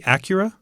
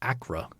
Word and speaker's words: Accra: uh oh boy uh is that supposed to be Acura no akura and it's just Acra Acura sports stadium disaster 129